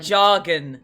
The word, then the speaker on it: Jargon: okay what is it it's jargon Smith it's a hard J yeah yeah yeah jargon